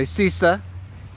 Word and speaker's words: Sousse: I realized that yesterday I was saying the name of the city wrong he's supposed to have an accent on the end so Susur today is another day